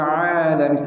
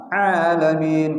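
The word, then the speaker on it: العالمين: Alhamdulillahi rabbil alamin. A jangan a alamin. Kenapa? Huruf ain bukan huruf hamzah atau alif.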